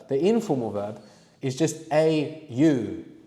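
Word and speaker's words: 会う: The informal verb is just au, which is pronounced more like aw.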